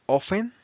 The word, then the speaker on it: often: Eh otro ejemplo She ofen Recuerden que este la t no se pronuncia es She often calls